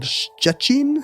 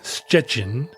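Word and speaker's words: Szczecin: it's got it it it doesn't have any T's in it it's spelled SZ c z e c i n we don't have a lot of words in English but start with the sound yeah uh and it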